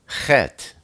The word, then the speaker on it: Chet: Chet is the number 8, and it's pronounced that's a guttural sound, like Ruach. And a lot of people say, they can't do that, and they'll say Ruach. It's good. Learn to roll your R's. And, have you ever had a popcorn shell stuck in the back of your throat? It's kind of natural to, do that to get it out, right? That's how you pronounce chet.